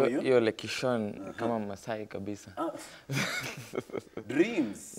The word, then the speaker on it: Lekishon: You're Lekishon, kama Maasai kabisa. Dreams. Not many people are able to pronounce it.